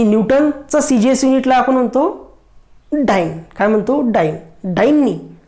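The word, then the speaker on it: dyne: आणि न्यूटनचं CGS युनिटला आपण म्हणतो डाइन. काय म्हणतो, डाइन. डाइननी डायन डाइन डाइन स्पेलिंग तुम्हाला लिहितो, तुम्ही त्याला डाइन म्हणा, डायन म्हणा, इन अकॉर्डिंग टू काही म्हणू शकता.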